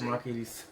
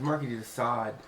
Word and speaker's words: Marquis de Sade: You said Marquis. It's Marquis de Sade.